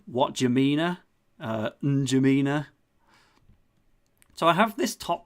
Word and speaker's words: N'Djamena: That is N'Djamena. That's obviously not how you pronounce it, but it's like, what N'Djamena? N'Djamena.